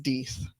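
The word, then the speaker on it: Deth: I think it's actually pronounced Deeth. Because it's like D-E-T-H. Yeah, D-E-T-H.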